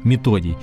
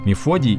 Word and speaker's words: Мефодий: считались известные всем братья Кирилл и методий именно так правильно говорить Мефодий - Это неправильный перевод